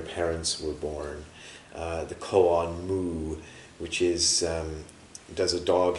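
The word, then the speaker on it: 無: pronounce it, but apparently in the past the Chinese pronounce it something more like woo, which is more like woo.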